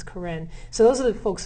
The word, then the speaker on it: Karen: Karen is the language, spelled like Karen, it looks like, but it's Karen.